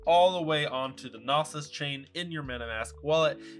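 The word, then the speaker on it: Gnosis: XD has been renamed the nosus chain the g is silent or if you run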